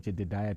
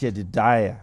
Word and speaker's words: Jediah: Yeah, you tried, but it's called Jediah Trust. Jediah. Yeah.